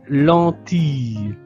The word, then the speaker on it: lentille: Ce sont des lentilles. Ce sont des lentilles. Ici, le I double l se prononce comme le son yeu.